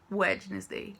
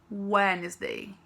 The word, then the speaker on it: Wednesday: quarta-feira o anos dei a gente não pronuncia a letra d então não é wednesday é wesley quinta-feira tem que colocar